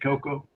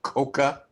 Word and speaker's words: Coco: Please wake up Ed Coco. Do I have to? When you can get his hearing fixed, tell him I pronounce my name Coca.